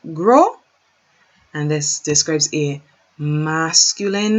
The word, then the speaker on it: gros: So, gros. Fat is gros, gros, or gross. Fat is gros, gros, or gross. Gross. Not gras, not gross. Gros, gross. The S isn't pronounced. Gros.